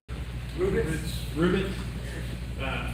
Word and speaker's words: Rubitz: Rubitz.